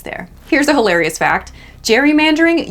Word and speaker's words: gerrymandering: here's a hilarious fact Jerry mandering used to be pronounced Gary mandering because the guy it originated with had the surname Gary and the Mander in